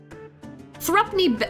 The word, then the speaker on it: threepenny: Pronounced variously. Threepence? There's threepence. Threepence. And then there is threepence. Thrupney? Thrupney, let's say thrupney. I think thrupney is probably the most correct.